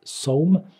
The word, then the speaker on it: Sawm: Fasting is known as Sawm in Arabic, with that S and a dot underneath, Sad, Sawm.